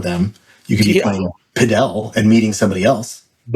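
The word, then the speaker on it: Padel: Pel Podell.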